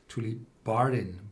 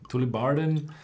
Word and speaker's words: Tullibardine: And if you see those Gaelic names like Auchentoshan, Tullibardine, Bunnahabhain, they are all pronounced on the second syllable.